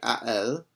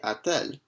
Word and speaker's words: a-t-elle: And here we add in a T between a and elle, and the reason why we do that is just because it makes it easier to pronounce it. It's much more challenging to say a elle than it is to say a-t-elle. A-t-elle has a bit nicer of a flow to it.